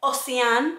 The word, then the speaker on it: Oceane: I have been so excited to finally film a video where I train like Natacha Oceane. It's French, and I checked that that is how you pronounce Natacha's last name.